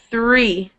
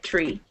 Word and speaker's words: three: 3, Okay, three. When you read it, you lost your th sound and it sounded like tree, but okay.